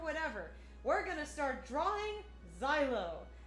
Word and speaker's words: Zielo: we're gonna start drawing silo silo yes that is how his name is correctly pronounced is it unique per